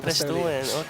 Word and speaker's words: Bristolian: Not Bristol, Bristolian. just south of Bristol. That's how it's pronounced here, Bristolian.